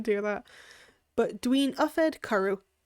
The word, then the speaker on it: cwrw: Actually saying cwrw is just, again, if you see like a W or a Y, if you see like a W in a space that sounds like it should be a U, say it like that. So it's a K and a Ru.